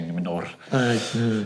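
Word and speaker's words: Númenor: I've got to roll your R's when you say Numenor.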